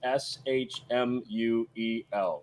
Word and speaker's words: Shmuel: By the way, for the chat, you all know it is SHMUEL. There's no C in there. I saw a Shmuel. It's not Shmuel either. SHMUEL. Shmuel. Yeah.